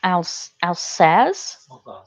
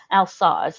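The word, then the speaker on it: Alsace: her own uh ben looked up how to pronounce it and apparently it's al sas al sa's azaz okay that is not all saucy at all so al sauce now i know i should have looked that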